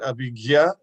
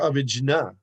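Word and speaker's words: abhijña: He said you can pronounce it Abhigya or Abhijna. And he said he had said that in New York in 1971 or 72, maybe. I've heard many proper disciples pronounce as Gya.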